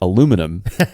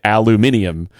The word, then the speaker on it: aluminium: It's not aluminum in Australia; it's aluminium, right?